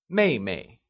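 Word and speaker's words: 妹妹: good younger sister translates as mayay it is pronounced using the following tone let's try and say May May good let's see another one elder brother becomes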